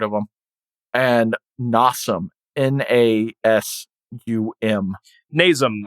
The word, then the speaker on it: Nasum: Nasum, I think is how it's pronounced.